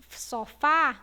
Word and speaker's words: sofá: E quando vocês falam sofá, vocês pronunciam com o som aberto.